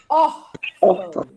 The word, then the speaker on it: órfão: Órfão. Órfão. Olha o acento no or. Tem Ó, duas meu sílabas essa palavra. Isso. Fão. A tônica, a sílaba tônica mais forte é a penúltima.